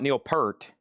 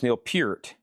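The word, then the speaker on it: Neil Peart: I learned quickly it's not Neil per. It's not Neil Pert. It's not Neil Pert. It's Neil Pert.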